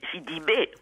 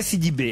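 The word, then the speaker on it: Sidibe: Comment on prononce son nom à cette jeune américaine? Alors là, c'est pas difficile. Gabouré Sidibé. Gabouré Sidibé.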